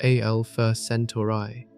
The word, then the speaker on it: Alpha Centauri: The Alpha Centauri system, pronounced Alpha Centauri, lies more than four light-years from the Sun.